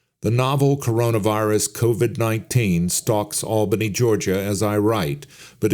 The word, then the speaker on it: Albany: Pronounced Albany, not like the capital of New York.